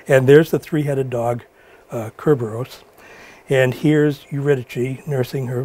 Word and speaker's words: Cerberus: I researched Cerberus a little bit. Some people say that it was actually pronounced Cerberus, and others say it was Cerberus, and sometimes it's spelled Cerberos, and so forth.